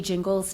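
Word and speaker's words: Gingles: So, can we go back to the soft G jingles test?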